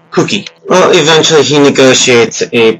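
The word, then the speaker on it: Kuki: His name is K-U-K-I, and it's pronounced Cookie.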